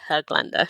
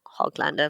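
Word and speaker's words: Höglander: dot is pronounced Yeah, it is meant to be Herglander, not Hoglander, Hmm.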